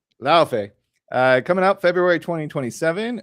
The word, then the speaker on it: Laufey: God of War, is it Laufey or Luffy? Pronounce it for me. Laufey.